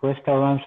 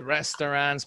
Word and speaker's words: restaurant: We don't say restaurant. The A-U, it's O. Restaurant.